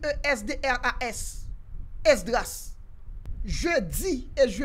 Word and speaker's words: Esdras: Mon nom s'écrit E-S-D-R-A-S.